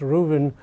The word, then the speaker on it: Ruthven: an article by mollies Ruben it's written Ruthven but it's actually pronounced Ruben in the New York